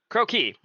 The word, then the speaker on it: croquis: I want to listen cro key oh Croy cro key it is Croy likes a frog croaky can you pronounce it Crocs on purpose if the word